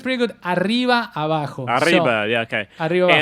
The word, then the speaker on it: Arriba Abajo: You can pronounce it correctly for us. It's pretty good. Arriba Abajo.